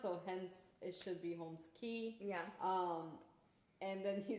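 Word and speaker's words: Holmes Cay: Eric Key, and that's how his name is pronounced. So hence it should be Holmes Key.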